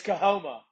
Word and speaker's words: Coahoma: And how do we pronounce your school? Yeah, thanks so much for y'all having me tonight. I'm really excited. It's Coahoma. So, Okay. Coahoma.